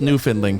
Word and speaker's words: Newfoundland: Clark, I'm really proud of you pronounced Newfoundland correctly.